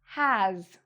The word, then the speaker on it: has: So, we have "have" with a "v" sound, or "has" with a "z" sound at the end. Even though it has an "s", we pronounce it like a "z".